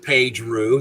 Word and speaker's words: Paige Roux: We're here today on Warrior Wednesday with Paige Roux. That is the proper pronunciation, yes?